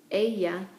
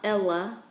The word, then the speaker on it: ella: Aya is she. Make sure you pronounce the double L as a Y. So it's not Ella, it's a.